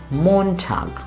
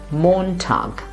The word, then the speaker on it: Montag: should we say it since it's a German word the stresses in the beginning so we must always say Montag repeat after me Montag or this one again